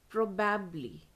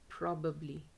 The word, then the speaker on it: probably: not elaborate yeah elaborate the next word is probabbly probabbly probably but this is wrong pronunciation the correct pronunciation is probably probably probably proabbly see how it is pronounced